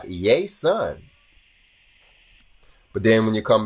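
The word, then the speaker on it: Ἰησοῦν: It starts with the yay sound with the S in the middle. So it's like Iēsoun.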